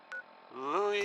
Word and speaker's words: Lewis: super dangerous I bet Lou Jordan is up next it's spelled Lewis but don't be fooled this is one I